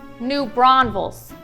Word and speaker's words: New Braunfels: It's pronounced new Brownsville, okay, it's pronounced New Braunfels.